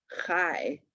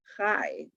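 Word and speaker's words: חי: We have alai, bunai, habutai, sai, enai, and chai. Not cha, but chai.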